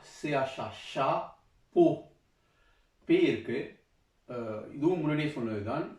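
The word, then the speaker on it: chapeau: Shah, CH Shah, போ, பே இருக்கு. இதுவும் முன்னாடியே சொன்னது தான். அதாவது இந்த ஓ உச்சரிப்பு வந்து ஆயும் ஓ தான், ஆயும் ஓ தான், ஓ உச்சரிப்பு தான் வரும்.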